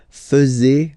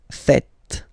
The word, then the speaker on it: faites: And it's quite funny because many French people tend to make the mistake and tend to say vous faisiez, okay? But then no. It's vous faites.